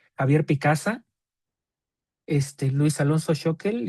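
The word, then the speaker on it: Schökel: Entonces, por ejemplo, diccionario bíblico hebreo español de Luis Alonso Shokel o Shequel, vi que también lo pronuncian así.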